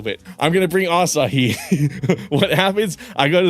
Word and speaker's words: Asahi: she's reading it, and she's like, Asai, and I'm like, Asahi, Asai, Asahi. It's spelled A-S-A-H-I.